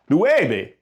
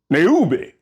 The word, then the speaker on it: nueve: would sound more like neube, and that ain't right. So how would we fix this? Think about it. How is you pronounced? A U in Spanish is pronounced U.